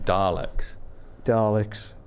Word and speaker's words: Dalek: fucking Daleks.